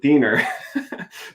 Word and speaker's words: Diener: torment in my childhood my name literally rhymes with weiner my my brother's name is nick deaner nick deaner dick weiner